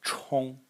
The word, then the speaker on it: 冲: Next character in the series is pronounced 冲, 冲.